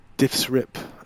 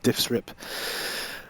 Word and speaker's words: DIFSRIP: what's known as the diffs rip acronym uh i will put some text on the screen to spell that out but it's d-i-f-s-r-i-p diffs rip so let's go through